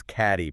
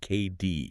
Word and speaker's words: Cady: It's Cady, pronounced K-D.